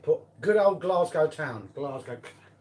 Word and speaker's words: Glasgow: Glasgow, that's the way I pronounce it.